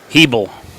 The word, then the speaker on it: Hebel: Yep, I asked, somebody had a Hebel on the back of their shirt, and I asked them how to pronounce it. Hebel.